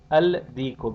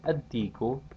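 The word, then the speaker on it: الديك: Al-najmu becomes an-najmu, al-rajulu becomes ar-rajulu, al-diku becomes ad-diku, al-samaku becomes as-samaku.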